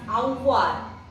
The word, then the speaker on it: avoir: It is pronounced as avoir.